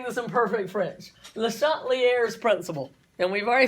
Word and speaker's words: Le Chatelier: and we've already said if you say it like the french people do it almost sounds like a bad word in english so we're just going to say it the uh dallas georgia salt lear's principle that's very dallas okay